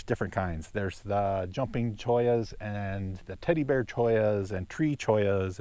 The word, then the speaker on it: chollas: it's actually spelled cholas but I guess the pronunciation is Toya's and there's different kinds there's the jumping joyas and the teddy bear Toya's and tree cheese